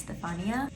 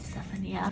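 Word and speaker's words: Stefania: is alessandra stephanie miani it is an italian name so the stephania is actually pronounced stephania but my whole life i've just said stephania for some reason and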